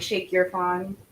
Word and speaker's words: Shake Your Fawn: It's pronounced like Shake Your Fawn, like you shake something.